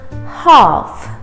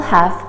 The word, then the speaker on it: half: i love cake half we don't say health so just like the word walk talk the l is silent half half so the british people will say half and the american people will say have half hath both are correct you have to choose